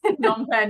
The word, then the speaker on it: Phnom Penh: Very good pronunciation, not a lot of people. Really? Okay. Phnom Penh, yeah.